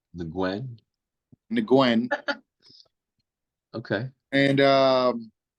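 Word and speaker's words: Nguyen: we have erens versus Stephen ngwen because that's how they was pronouncing it yesterday so that's how I'm pronounce it the Gwen the Gwen okay and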